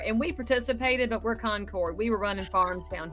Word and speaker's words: Concord: I'm you today yes did I say it right is it Concord or conquered no it's Concord Yankees say conquered they have their little